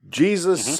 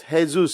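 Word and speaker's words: Jesús: without his legacy okay final 1/3 is then Jesus sausage Jesus sausage yes well it's actually pronounced hey-zeus sausage I mean to be honest that doesn't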